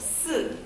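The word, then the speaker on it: 四: The reason for that is because the Chinese word for 4 is pronounced si, which sounds a lot like the word for death, which is si.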